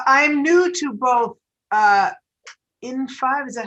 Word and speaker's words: in5: um so uh i'm new to both uh in five is that how you're pronouncing it in five yes and this new part of height so